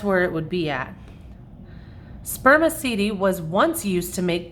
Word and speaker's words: spermaceti: It's called spermaceti. You say it like this, spermaceti.